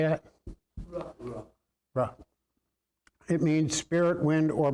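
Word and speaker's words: רוּחַ: Ruh.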